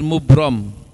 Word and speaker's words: mubram: menjadi dua pertama takdir mubrom tulisannya mubram bacanya mubromi anak-anak takdir mubrom yakni